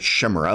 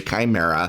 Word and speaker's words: chimera: 3 3 legendary chimera i still like to pronounce it shimmer but ok chimera and you can tap